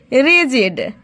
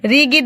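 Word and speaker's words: rigid: रिजडन and shall be रिजडन पढ़ेंगे इसको रिगिड नहीं पढ़ेंगे क्योंकि यहां पे जी का उच्चारण जो आ रहा है ठीक है तो आप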